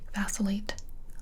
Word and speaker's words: vacillate: It's the vacillate. Yeah, okay. So the first word was vacillate. Vacillate, and that's spelled V-A-C-I-L-L-A-T-E.